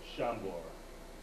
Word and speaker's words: Szambor: S-Z-C-Z in Polish. It's supposed to be Sh-Ch, but it gets slurred together and comes out as Sh. So Szambor, that's how you spell it.